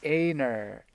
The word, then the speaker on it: Einar: Gosh, I was all over the place with pronunciations. I'm so sorry. Oh, don't worry about it. I mean, I wasn't. Einar.